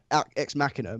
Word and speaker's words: Ex Machina: isn't it yeah X machine er no ex machina machine er oh I